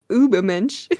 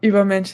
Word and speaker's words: Übermensch: I literally can't pronounce that one with an English accent. Übermensch. Or how would you say that one? Come on, it's a German word and we speak German. Yes. So Übermensch it is.